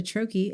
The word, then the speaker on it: troche: So we've heard troche and but it's troche is how you pronounce it, and Troche if you're listening and don't happen to be on YouTube when we list it below.